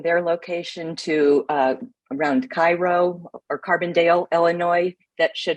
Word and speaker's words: Cairo: would want me to tell you that it's Cairo thank you for correcting that it is it is named after Cairo but it is pronounced Cairo there because it's Illinois right well it's something